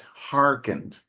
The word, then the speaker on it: hearkened: But in English it's hearkened. It's irregular. Okay. So it's pronounced hearken as though there's no e at all.